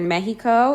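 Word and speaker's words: México: The letter X in the word Mexico and in some other words of Mexican origin is pronounced like the J and GE and GI sound.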